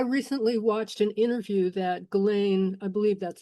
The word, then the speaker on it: Ghislaine: I recently watched an interview that Ghislaine, I believe that's how it's pronounced, Ghislaine Maxwell did with her brother a